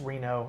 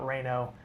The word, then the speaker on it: Reno: Blaze, it's it's Reno. Somebody said Webster Smith, so we were pronouncing it incorrectly. Thank you, Webster, for that. It's Reno, not Raino. Uh yeah, just adding to